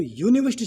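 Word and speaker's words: university: क्योंकि यूनिवर्सिटी शब्द में हम सही उच्चारण करते हैं तो यूनिवर्सिटी शब्द में यू का उच्चारण हो रहा है। किसका हो रहा है? यह की ध्वनि आ रही है, यह।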